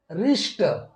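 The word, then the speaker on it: wrist: हम पढ़ेंगे ऑनेस्ट दोस्तों दूसरा रूल है जब किसी अंग्रेजी शब्द के शुरुआत में यदि डब्लू के बाद आर आता है तो डब्लू का प्रोनंसिएशन नहीं किया जाता है तो दोस्तों जब डब्लू के बाद जब आर आता है तो हम डब्लू का प्रोनंसिएशन नहीं करते हैं जैसे यहां पर है कि रिस्ट यहां पर दोस्तों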